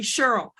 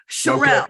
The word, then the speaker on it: Cherelle: it past it because everybody calls me Cheryl Sherelle so it's c-h-e-r-e-l-l-e Parker